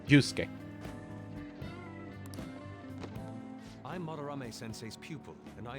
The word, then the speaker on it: Yusuke: It seems like Yuzuke, like 3 syllables, but I think it's only 2. Yusuke.